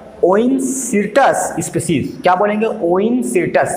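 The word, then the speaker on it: Oencyrtus: ओइनसिर्टस, spelling क्या हो जाएगी?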